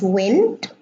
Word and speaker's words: wind: By the way, the word wind has two pronunciations. It can be pronounced wind, like the wind blows, and it can be pronounced wind, like I'm winding my watch.